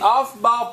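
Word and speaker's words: Pauli: Alright, so in this, the off-ball principle is a fundamental principle. Why is it not spelled O-F-F-B-A-L-L? Because the guy that came up with it, that's how his name is spelled, and he's a very special dude.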